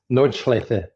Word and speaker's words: Nordschleife: Yeah, it's Nordschleife. Yeah. Okay, like that. I guess they have that pronunciation at the end, but okay.